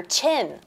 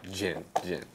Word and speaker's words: Jyn: I thought everyone was calling her Chin, like chin on your face. No, Jyn.